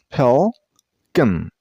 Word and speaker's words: pelican: This bird name has 2 syllables, Pelican. And use a stress on the first syllable. I mean on pel. And the second syllable isn't pronounced as con. It's kin. Pelican.